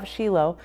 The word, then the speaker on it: Shiloh: to come to Shilo I'm using the Hebrew pronunciation versus Shiloh so every time I